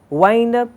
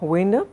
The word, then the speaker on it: wind up: My job here is done, I can wind up and leave. Pronunciation is not wind up, but wind up.